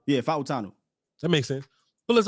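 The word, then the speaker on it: Fautanu: I promise you br I looked it up bonu F fanu that's that's how somebody said it put it that way fanu yeah fanu that makes sense pull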